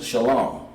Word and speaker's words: Shalom: that word is peace this is the Hebrew pronouncation Shalom but in order to pronounce it we have to break it down into connectors okay Middle Earth shop